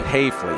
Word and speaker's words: Hafley: Hafley, it's Hafley. A long A there, yeah.